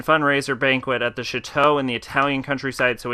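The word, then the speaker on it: château: Thornton staked out the chateau agent Thornton that's pronounced Chateau age and Thornton identified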